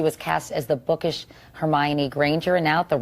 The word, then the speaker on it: Hermione: school all the girls thought your name was her me one I know different interpretations like hum yoni honey